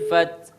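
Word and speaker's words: الفتح: Iya, jadi idza jaa nasrullahi wal fath. Fath. Ada haknya, Pak. Ada bunyi S-nya Pak Ustaz. Hah? Fat. Ada bunyi S katanya. Ada fath.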